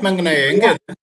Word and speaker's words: Maunganui: In Tamil, they use Manguni. New Zealanders pronounce it as Mount Maunganui.